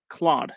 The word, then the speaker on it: Claude: me Claude my bad Claude it's it's a French name it's uh isn't there like an actor Jean Claude vanam yeah but yeah